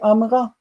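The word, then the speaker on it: אמרה: it look at that when the accented syllable a is appended the vowel under the second root letter disappears instead of saying Amar the tendency is hurried speech is to say amra it's not just tendency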